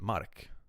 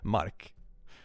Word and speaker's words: Mark: Mark pronounced in Swedish is way like in Swedish you just pronounce it mark, so it's like the ground. Mark.